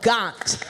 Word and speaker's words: Gahnt: Please put your hands together for Ella Gahnt, which rhymes with DuPont.